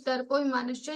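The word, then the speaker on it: दर्पोऽभिमानश्च: so we are putting this avagraha sound. Otherwise, there is no avagraha sound. It is darpo abhimanascha.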